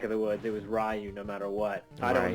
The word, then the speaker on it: Ryu: get it right because I think it's like ruh it's not really great I think today I call him Ryu and I'm sticking with it I don't give